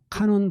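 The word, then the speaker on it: 観音: 일본 발음으로는 카논이라고 그래요. 카논. 예, 카논이에요. 그래서 일본 사람들은 관세음보살님을요. 카논 보사츠 그래요.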